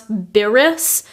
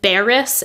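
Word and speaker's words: beris: the way it's pronounced so it's kind of hard to pronounce beerus and if you say beerus enough times it ends up being beariss anyway that's at least a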